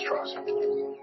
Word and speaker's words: Strauss: It's pronounced Strauss. Oppenheimer, whatever way you say it, they know I'm Jewish. I'm president of Temple Emmanuel in Manhattan. Strauss is just a southern pronunciation.